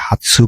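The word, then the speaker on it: 発: অন হচ্ছে কি হাতসু বা হৎসু, কুন হচ্ছে তাৎসু, হ্যাঁ আবাকু বা ওকুরু।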